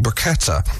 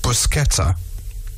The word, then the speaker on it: bruschetta: going to say how what you ended up pronouncing briquetta missing out the s it's pronounced bruschetta yeah now this is about to blow your